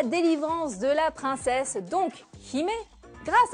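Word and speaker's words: 姫: En fait, princesse en japonais se dit Hime, il s'écrit comme ceci.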